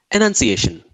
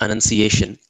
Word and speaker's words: annunciation: One way to keep the words apart is to pronounce the A in annunciation as a schwa sound or a sound, and the E in the enunciation as a long E sound, as in he.